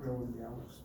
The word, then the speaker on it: rouleau: Ajá, o rouleaux, pero se pronuncia rouleau.